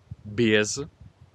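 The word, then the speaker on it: без: sloveno breze in russo BES scritto b e z in cirillico Ok però la e si pronuncia ie Ok BS in sloveno e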